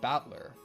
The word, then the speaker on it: Battler: Battler is made up of the characters for fight and person and it's pronounced battler.